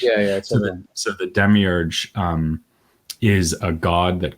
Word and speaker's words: demiurge: a demiurge in Greek long time to learn to pronounce that word but it's demiurge yeah well I mean it's a temuros in Greek you can do whatever you want with it I usually say Debbie urge in English yeah yeah so the